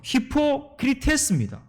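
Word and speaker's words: ὑποκριτής: 외식하는 자, 이 헬라어 발음은 뭔가 하면요, 히포크리테스입니다.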